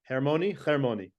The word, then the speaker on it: Hermoni: I'd like to welcome to the JPP, the Jewish Philanthropy Podcast, Hermoni. Hermoni. You said it right. In Hebrew, it's Hermoni. In English, it's Hermoni.